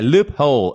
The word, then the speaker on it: loophole: ah by the way the way we pronounce it okay a loophole okay it's more like loophole yeah yeah it's true